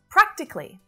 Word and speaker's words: practically: decision was politically motivated practically another very common adverb so it's not practically it's just three syllables practically practically practically i've